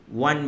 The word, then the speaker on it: Juan: Nama dia Juan Bennett. Bukan WAN yang orang Kelantan, JUAN, Juan Bennett. Ataupun Juan Bennett ke kan. So orang pronounce dia Juan Bennett.